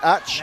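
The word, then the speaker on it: Ács: Yep, it's spelled ACS, but it is pronounced Ach.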